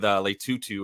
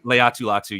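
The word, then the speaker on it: Laiatu Latu: they picked their their first overall pick with lutu or I'm always gonna say his name wrong sorry Leu latu Leu latu yes thank you that's beautiful um with lutu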